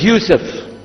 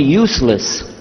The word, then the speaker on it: Yusof: My name is Yusof. Can you say Yusof? Let me say Yusof. Yeah, very good. I wish you'd teach my wife. She keeps mispronouncing it. She calls me useless.